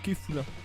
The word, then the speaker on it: Kefla: Alors en parlant d'elle, ils ont mis Kefla parce que, en fait c'est Kefula, parce qu'enfin... Enfin, ça peut s'écrire comme ça, mais en fait, quand tu prononces à la japonaise, c'est K-A-F-U-R-A.